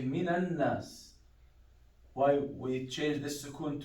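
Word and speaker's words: مِنَ النَّاسِ: So minan, because this alif, it's practically it's sukun. We don't pronounce it. So we say even the lam. So we say minan nas.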